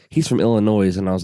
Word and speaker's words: Illinois: she said he's from Illinois, and I was like, I'm sorry, I don't mean to be that guy, but the S is silent at the end.